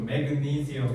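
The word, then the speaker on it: magnesium: 마그네슘도 매그니시엄 이렇게 발음할 거야 나중에.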